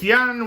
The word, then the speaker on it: Jan: pronunciation of his name it's yan with a j a silent j he's a dutch painter